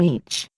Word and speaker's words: Ea: They crossed into our world a long time ago under the Sumerian name each. Pronounced Ea, Lord and King of the SA.